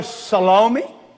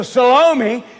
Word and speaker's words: Salome: said to the daughter salami is that the way you pronounce it salami it's got eme there on the end of it so salome she comes out and